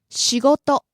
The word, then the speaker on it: 仕事: First word 仕事 work. 仕事仕事 Starting out low, rising on go, and staying high.